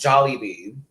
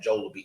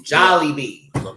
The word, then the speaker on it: Jollibee: we supposed to mix with the spaghetti it's pronounced jollibee that texting in me is making me make sure you gotta forgive me babe that joel will be see how that goes up it's jolly bee and that would make a lot more sense